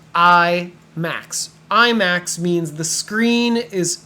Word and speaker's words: IMAX: might ask is is the movie available in IMAX this is pronounced I Max IMAX means the screen is super super super